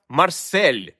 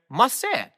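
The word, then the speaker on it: Marseille: від іншого французького міста Марсель якими адаптували літери хоча насправді Це масе або столиця США яку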